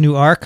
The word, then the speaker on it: Newark: corrected it's fine no it's spelled the same way it's just pronounced differently um there you go